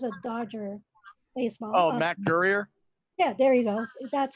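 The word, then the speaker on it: Guerrier: Adams, and we did actually Matt Gournier. I don't even know how to pronounce his name. He Mm. was a Dodger baseball. Oh, Matt Gurrier.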